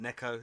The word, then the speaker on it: Neko: Is it Neko? Is that how you pronounce it? Neko, yes. Yes.